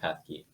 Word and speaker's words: Pethke: Yeah, I'm Pethke. I would have pronounced it that way, so I should have